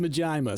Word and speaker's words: Majima: It's pronounced Majima.